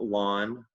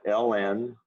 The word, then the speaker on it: ln: pronounce it lawn sometimes we pronounce it ln or sometimes we say natural log i'm i'll almost never call it ln i always call it the lawn or very seldom the natural log but it's still a